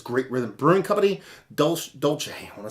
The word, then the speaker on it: Dolce: Is it Dolce? It's Dolce. It's not Dulce.